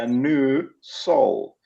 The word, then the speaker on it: Anusol: then, being the literary scholar and grammar pedant that I am, pointed out that it's spelt as one word, capital Yes, A N U, yes, capital S O L. So that's right. a new soul.